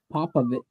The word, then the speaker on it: Popovich: Don't pop a bitch. Popovich.